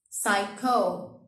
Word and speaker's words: psycho: Psycho, psych ward. All of these words have a P at the beginning, but we do not pronounce them because the consonant is after it.